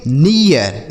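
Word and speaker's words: near: आर से र इसे पढ़ेंगे डियर एन इ ए आर इसे पढ़ेंगे नियर इसे नीर नहीं पढ़ेंगे नियर ठीक डब्ल्यू ई ए आर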